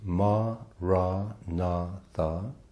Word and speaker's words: maranatha: And if you choose that word, I would suggest you say it has four syllables. Ma, ra na tha.